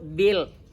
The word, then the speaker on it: build: wajib ditulis haram dibaca contohnya membangun tulisannya build a build tapi punya Jangan dibaca ditulis wajib bacanya cukup Bil nah gitu Jadi kalau